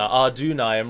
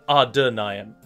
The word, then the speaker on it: Adûnâim: you in the a it doesn't denote that you should put more emphasis on the you in the middle it just means that it is pronounced a longer our dune I am rather than are denying